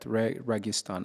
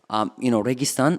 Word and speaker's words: Registan: So, what made you quit your job at Registan? How do you guys pronounce it, by the way?